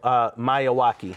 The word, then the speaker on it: Miyawaki: Oh, Miyawaki.